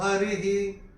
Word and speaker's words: हरिः: विसर्ग आ रहा है उसका उच्चारण केवल और केवल ह होगा क्योंकि यहां पे ई की मात्रा के साथ आ रहा है छोटी ई की मात्रा के साथ तो उसका उच्चारण ही होगा कैसे होगा महा योगेश्वर हरि ही ऐसे करके आएगा तीसरे चरण में चांटिंग